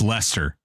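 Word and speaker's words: Leicester: It's like uh lie That's That's how it's spelled, but it's actually it's Lester.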